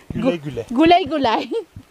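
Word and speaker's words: Güle güle: Gulay gulay. Gulay gulay. It's the U with the dots. Ah, with the U sound.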